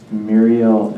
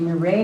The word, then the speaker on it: Mireille: Next testifier is Muriel Ellsworth. Good afternoon. Hello, my name is actually Mireille Ellsworth. I'm used to the mispronunciation, no problem.